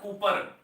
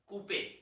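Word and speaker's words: Couper: called CPE structures not Cooper R is silent that is called Coupe I can write in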